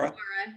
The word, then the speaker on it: Mara: And if not, is it Mara? I can't remember how to spell it. Or how do you pronounce her name? Mara? Mara, yeah.